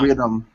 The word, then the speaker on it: rhythm: rhythm rhythm rhythm okay right now rhythm yeah there you go that's the th sound one more time rhythm